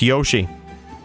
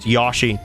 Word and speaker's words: Yoshi: yashi Up In Here people think think it's pronounced Yoshi according to Nintendo it is pronounced Yosi all right you can